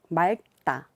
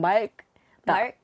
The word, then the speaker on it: 맑다: The R, the yeah, and the get together always messes me up sometimes. 맑다. 맑다. Because like you wouldn't pronounce usually the gia unless you have a specific vowel that's next to it, right? Yeah. It gets confusing when there are two in the bottom, right?